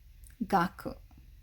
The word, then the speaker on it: 学: uh and the fundamental the most typical pronunciation of this is going to be gakku gaku so just for some